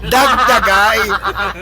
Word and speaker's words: dagdagay: Dagdagay. Ang galing. Pero pag pronounce natin ay dagdagay.